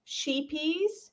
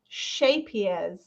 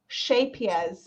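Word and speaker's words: Scheepjes: gave me a lesson so it looks like sheepies but it's pronounced shapiers shapias shape everybody together now shapier so it's like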